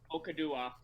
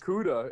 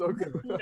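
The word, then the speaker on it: Okudah: the 2020 draft, the Detroit Lions select Jeff Okadua, quarterback. Are you kidding me? I literally had his name memorized. Okuda. It's Okuda.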